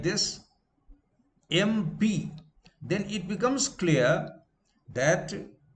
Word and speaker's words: MP: Therefore, in spite of MP, M and P consonant, that will be an. Because when you pronounce the word MP, M, this E, A sound occurs.